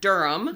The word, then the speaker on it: Durham: Today we have Durham. Durham.